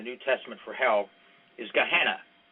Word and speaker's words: Gehenna: The word most often used in the New Testament for hell is Gehenna. That's the way it's pronounced. It's Ghenna is the way it's written in English, but Gehenna is the word.